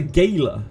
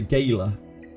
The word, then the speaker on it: gala: Do Americans say gayla? They do, right? Americans say gayla.